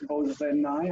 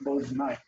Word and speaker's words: Boznai: I don't think it's bozenai. I think it's boznai.